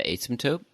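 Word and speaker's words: asymptote: look for that I've already forgotten how to pronounce that word. What's the word again Chris? The asmtope.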